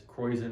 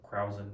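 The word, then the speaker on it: Kräusen: This is what's called as Kreuzen or Krausen, depending on how you want to pronounce it.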